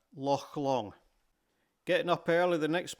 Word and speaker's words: Loch Long: The CH sound in Scottish is a soft H, like hotel. So it's Arrochar, Loch Long.